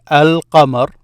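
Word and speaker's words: القمر: So you will hear me say al-qamar. This here, al-qamar means moon. The moon. By saying al, I'm meaning it becomes the moon. So the moon, al-qamar, the moon.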